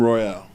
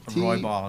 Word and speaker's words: Roybal: I can't pronounce his last name. First name is Pat. Says Team Royale. Roybal.